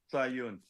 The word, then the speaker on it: Sahyoun: How do you pronounce your last name? Sahyoun, I was kind of close.